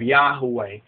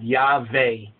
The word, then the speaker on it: Yahweh: not the proper way that's a w not a v sound but be that as